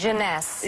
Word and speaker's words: Jeunesse: How do you pronounce this? Jeunesse.